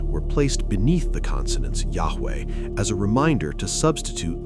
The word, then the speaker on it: Yahweh: Today, we do not know with certainty how Yahweh was pronounced. Yahweh? This is the most widely accepted academic reconstruction, but it remains a scholarly guess.